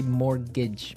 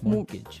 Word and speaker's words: mortgage: with a t yeah it has a t in it but you don't pronounce it you say mortgage morgage so not Mort Mortage